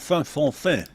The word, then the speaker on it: Vendôme: Vendome with a little hat on the O. It's Fonfin. Yeah, that's it.